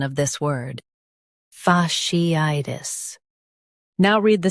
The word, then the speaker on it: fasciitis: Fa, she, I, tis. Fasciitis. Emphasize I and soften tis.